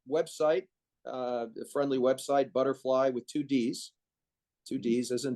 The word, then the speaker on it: Budderfly: sure uh our website uh a friendly website butterfly with 2DS 2DS is in dog okay we'll